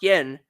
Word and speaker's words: Guyon: Ransford Guyon, pronounced Yen, 2 goals, 1 assist against Pitt.